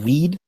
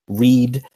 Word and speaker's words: read: same letters different pronunciation you also see that with the verb read like you say he will read the book today he's going to read from the Bible or EAD and yet when he's